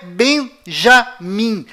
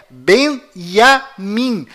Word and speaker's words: Benyamin: é iu além disto não é Benjamim a pronúncia correta é benyamin pois lembre-se até hoje não existe em hebraico nenhuma letra com som de J confira é benyamin se você